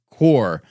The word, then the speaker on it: corps: on this one guys the word cor PS is actually pronounced cor the word that you